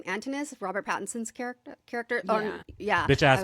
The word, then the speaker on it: Antinous: Okay, can I just say, I think it's Antinous, right? Antinous, Antinous. Yes, You're yeah. right. No, it's 100% Antinous.